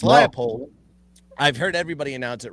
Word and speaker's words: Leipold: So, I thought I said the name wrong. It's Leopold.